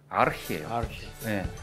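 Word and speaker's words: архи: 알코올도 가고 몽골 사람들이 지금도 술을 부를 때 하는 이름이 아르히예요. 아르히 이런 발음 나요.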